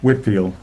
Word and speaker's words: Whitefield: I mean, George Whitfield, and it is, if you look at it in writing, it looks like Whitefield because the E is silent. It's actually an English name, so.